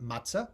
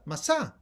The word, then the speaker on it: matzah: Not matzah, Masa. Ets Ahaim. The Hey, the fifth letter of the Hebrew alphabet, is silent among the Sephardim.